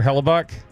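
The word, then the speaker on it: Hellebuyck: Uh Connor and then pronounce it for me Payton. Connor Hellabuk.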